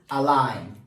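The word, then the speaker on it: align: Number next word is अलाइन। What? अलाइन। अलाइन में हमारे पास जो साइलेंट वर्ड है दैट इज जी।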